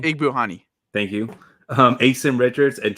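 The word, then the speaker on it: Igbinoghene: Igbuhani.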